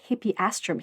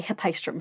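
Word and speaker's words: Hippeastrum: Sean was correct when he pronounced hippieastramm here, but just like with Gaton Aster, it gets confusing when vowels get squished together and he's going to say hippistrom for the rest of the episode.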